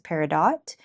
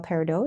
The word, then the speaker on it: peridot: And actually, the most common and widely accepted pronunciation pronunciation pronunciation in the gem and across America North America's peridot, but the French style peridot is also considered correct.